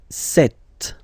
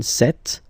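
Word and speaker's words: cet: again sir or then set feminine set so you can notice that phonetically these two are pronounced the same way okay set here and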